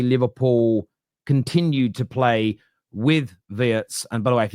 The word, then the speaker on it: Wirtz: This happens a lot with international names, but they're saying it isn't Verts, it's Vietz. Um, so I'm going to